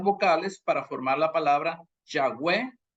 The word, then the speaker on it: Yahweh: Nadie sabe exactamente la verdadera pronunciación de YHVH de por sí, porque la forma de deletrear el hebreo antiguo no usaba vocales. Sin embargo, la pronunciación Yahweh o Yahvé es probablemente la más correcta, porque entran